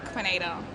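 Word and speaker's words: Kuinita: ah do you want to know it yeah quinita quinita yeah how do you spell that k u i n i t a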